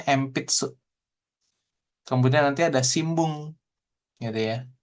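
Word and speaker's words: しんぶん: Kemudian nanti ada simbung gitu ya. Ini harusnya sih sin n gitu ya. Hiragana n di sininya. Tapi cara bacanya, melafalkannya itu m, simbung seperti itu ya.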